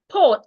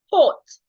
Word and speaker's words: put: So we can have words like put. Sometimes letter U sounds O put.